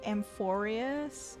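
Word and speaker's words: Amphoreus: Again, I mispronounce everything. Now that he said Amphorius, sometimes I just need to remind myself exactly how characters pronounce the words in game.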